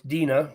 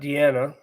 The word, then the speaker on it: Dina: It's Dena, not Deanna.